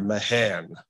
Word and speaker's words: Mahan: to speak as John said about Alfred Thayer Mahan that's the correct pronunciation he told people that's how you pronounce